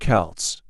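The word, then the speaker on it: Celts: These ancient people were called the Kelts, pronounced Kelts, and they didn't have Vince or iPhones.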